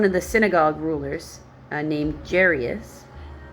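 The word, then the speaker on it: Jairus: the synagogue rulers named jerus came there that's how I pronounce it j r j a i r us uh seeing Jesus he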